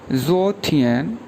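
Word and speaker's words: 昨天: इसी तरह यस्टरडे के लिए जो वर्ड यूज़ करते हैं उसको बोलते हैं ज़ो थियन, ZUO सेकंड टोन, TIAN, ज़ो थियन, ज़ो थियन।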